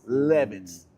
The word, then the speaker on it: Levis: Will Levis. It's spelled like Levi's. Smell like Levi. With no apostrophe though.